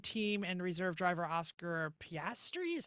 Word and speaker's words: Piastri: Alpine Formula One team and reserve driver Oscar Piastri, is how you say it, right?